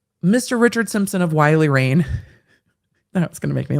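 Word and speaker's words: Rein: richard simpson esquire of wiley rain it makes me think of rain that's being sassy but it's spelled r-e-i-n but widely rain just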